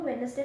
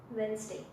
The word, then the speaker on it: Wednesday: करते हैं, बट अगर इसको हम लोग हल्का से इम्प्रूव करें ना तो आई थिंक ये बेटर हो सकता है. ठीक है, तो इसमें ना डे हम इसमें साइलेंट कर देते हैं. ठीक है, एंड इसमें हल्का सा जेड का साउंड डाल देंगे, which is वेंसडे. वेंसडे. Okay, तो इसका सही प्रोनाउंसिएशन वेंसडे होगा.